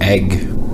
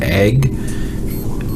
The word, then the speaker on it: eg: for her is um egg is how it's pronounced it's spelled the same way no matter where nor where you are it's egg in Bergen it's y y in